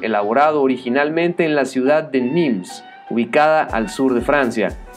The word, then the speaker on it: de Nîmes: Y justo en ese dato que acabo de mencionar está la clave del nombre, denim, es decir, de Nîmes, que en francés se pronuncia, bien, pues, denim.